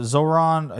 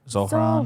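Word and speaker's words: Zohran: Trump is a Uh Zoron. Yeah, I him. Uh Zoron Mandani. I keep saying his name wrong. Zoran.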